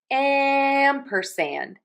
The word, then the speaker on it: ampersand: So we have ampersand. amperand amperand amperand open a and am open in a wide circle and we have that sound again in sand amperand amperand amperand amperand